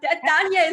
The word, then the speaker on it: Dania: i've said it right is it dania perfect no all right danielle dania is correct i can walk into